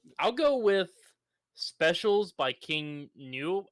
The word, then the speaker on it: King Gnu: go with specials by King new I don't know if I'm pronouncing it right it's King gnu it is the second